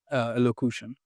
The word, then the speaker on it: elocution: Elocution. Elocution. So there's nothing you're doing with the... oh, did I just correct? Sorry, 20% sure. I mean, I was expecting this to be Elocution. It's cution. elocution.